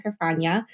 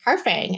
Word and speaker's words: Carfagna: And I always say it used to rhyme with lasagna, Carfagna. And now we're just Carfang.